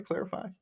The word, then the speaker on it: Clarifai: and today I have a myth from uh clarify is that how you pronounce it by the way clarify it is the correct clarify okay sounds great